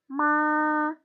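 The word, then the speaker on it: 妈: Jadi dibacanya ma.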